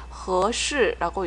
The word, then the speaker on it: 合适: 最合适的, 最는 가장, 合适라고 읽지요. 合适, H-E-S-H-I 해서 合适는 적합하다, 적절하다라는 뜻이에요.